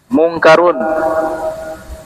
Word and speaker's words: Munkar: Tiga dibaca tanwin. Karena kaidah dalam bahasa Arab, setiap nama yang diambil dari bahasa Arab dibaca tanwin. Kalau nama asing bukan dari bahasa Arab, dibaca tanpa tanwin.